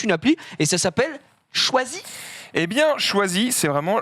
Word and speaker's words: Chwazi: D'où le nom Choisi. Ça s'écrit CHWAZI.